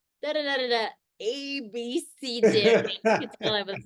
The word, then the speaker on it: abecedarian: How do you say that form that deals with the alphabet? How do you pronounce it? Oh, abecedarian, totally. See, that's how I say it. Apparently, it's abecedarian. Like I can't even do that with my mouth. You have to say the letters abecedarian.